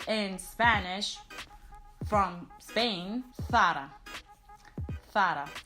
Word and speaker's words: Zara: This very well-known Spanish fashion brand is pronounced correctly in Spanish from Spain, Zara. Zara. So it's not Zara, but it's Zara.